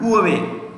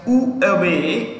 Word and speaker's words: Huawei: year, which country banned Huawei? You can say, pronounce it as Huawei or Huawei. You can pronounce it with an H or with an U, with the H being silent.